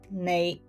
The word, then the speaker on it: 你: I take the example of the word nei.